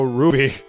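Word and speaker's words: RWBY: never seen it myself yeah I know it's pronounced Ruby it's pronounced Ruby I know I just like to say root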